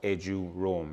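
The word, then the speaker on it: eduroam: access that free Wi-Fi the Wi-Fi is called edu roam it's two syllables and it's short for educational roaming now that's an international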